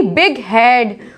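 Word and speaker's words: bighead: जब compound words होते हैं तो जीएच को प्रोनाउंस कर दिया जाता है, जैसे कि बिग हेड, fog horn, dog house.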